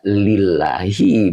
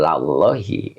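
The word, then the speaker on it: لِلَّهِ: Kalau ketemu lafadz Allah ya lillahi bukan lallahi ya itu.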